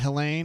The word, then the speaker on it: Helene: Super Chat says, damn it, Helene. I call it Helene. There was a girl in my high school named Helene, and we always called it Helene. You've seen it pronounced as Helene. Either way. We're good.